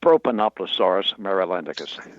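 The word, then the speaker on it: Propanoplosaurus marylandicus: And and the pronunciation of your dinosaur. Did I get that even close? Not quite. It's it's proponoplasaurus mealicus.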